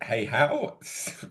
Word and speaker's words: Hayhow: I'm uh Hihow and yeah, it's pronounced as it's spelled.